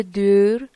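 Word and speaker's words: deur: کلمه بعدی د دور، د دور. یه ذره شاید تلفظش سخت باشه ولی او کنار هم دیگه دور، ایو ایو تلفظ میشن.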